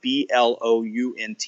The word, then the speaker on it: Blount: blunt comm now my last name is spelled BL o UNT pronounced Blount in some places in the country one-nothing it says I pronounce it blunt but blunt comm